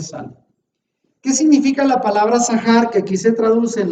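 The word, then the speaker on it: זכר: Y ahí la palabra acuérdate usa la palabra sahar. Ahí lo pongo en hebreo. ¿Y cómo se pronuncia?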